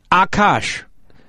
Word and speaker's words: Akaash: Akaash. Say it. Akaash.